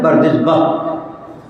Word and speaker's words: بردزبہ: ابن مغیرہ ابن بردزبہ، بہ بھی بولتے ہیں، صحیح تلفظ ہے بردزبہ، یہ ان کا تعارف